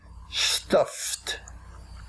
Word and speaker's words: stuffed: Some examples are F, when a verb ends in the letter sound F, like in the word stuff, and we add ed to make it past tense, we write stuffed, but we pronounce it stuffed, stuffed, stuffed.